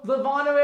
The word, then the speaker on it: Lovano: Elmo Lovano, everyone. It rhymes with Donato.